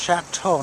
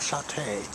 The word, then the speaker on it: Chateau: walk around here and i always pronounce it wrong it's chateau not satay chateau on central and i